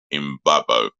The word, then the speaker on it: Mbabo: And before you know it, no, Kevin Mbabo, Mbabo. That's how you pronounce his name.